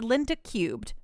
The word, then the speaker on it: Linda Cube: Linda Cubed. After his work on the successful, albeit typical, Tengai Makyu series, writer Shoji Masuda created Linda Cubed, pronounced Linda Cube. Oh, not cubed, but just cube.